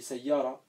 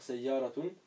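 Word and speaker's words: سيارة: Même si on a dit que le tanwin, on ne le prononce pas. Normalement, on dit Daja, ça suffit. Comme une voiture, on dit sayyara. On n'est pas obligé de dire sayyaratun.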